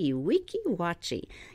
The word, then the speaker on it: Weeki Wachee: We'll spell it. It's W-E-E-K-I, second word, W-A-C-H-E-E, Weeki Wachee.